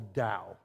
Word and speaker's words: Tao: CS Lewis called the da it's spelled Tao but it's pronounced da and basically what he's